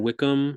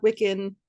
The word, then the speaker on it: Wiccan: you talked about how paganism wicca and wickham is that correct am i pronouncing that correctly uh close yeah wicca wiccan pagan those were like